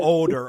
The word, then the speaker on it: Odor: It's spelled Odor, O-D-O-R, but Odor, I think, is how it's pronounced.